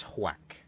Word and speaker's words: Hwak: Whack. H-W-A-K. Oh, Whack. whack. I was hearing thwack. So was Whack. I. Oh, okay. No, it's whack. H-W-A-K.